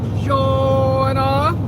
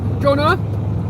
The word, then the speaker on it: Jonah: Hi, Joanna. Jonah. Hello, Miss Jonah. I've been I was saying your name wrong for a long time, Jonah. It's Jonah.